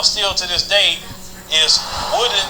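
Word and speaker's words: Woden: Another town they're actually saying that is active sundown still to this day is Woodin, Texas. It's spelled W-O-D-E-N.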